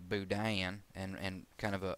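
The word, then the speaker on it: boudin: And the third type third type of budan rather is of southern variety or southern influence generally pronounced budian and and kind of a a multiple uh syllable application there.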